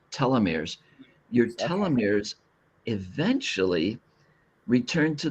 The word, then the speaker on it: telomeres: So, the longer you're on Earth, your And that's pronounced telomeres. Telomeirs.